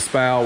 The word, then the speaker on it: SPAL: This is a Tejas Steelworks fan shroud, and Brian says this word a little bit differently than I and probably most people do, but this is designed for the 13-inch SPAL fan. So Brian pronounces it SPAL, which is probably how it's pronounced.